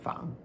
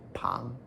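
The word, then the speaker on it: 彷: top diagonal stroke is third tone Fang. This can also be pronounced as second tone Pang.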